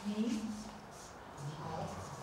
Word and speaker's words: 你好: This is a double vowel. You pronounce it as ow.